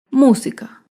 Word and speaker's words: música: por ejemplo la palabra música música se acentúa en la antepenúltima sílaba y música todas las